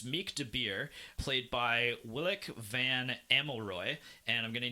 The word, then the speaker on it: Willeke: That is one thing with the Dutch language, like you pronounce every syllable. Willeke, like I don't know if I'm explaining that right, but yeah. Yeah, it's not like mashing them together.